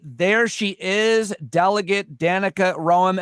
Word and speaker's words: Roem: she is delegate Danica Ram am I saying your last name r pronounce like the city yep thank you so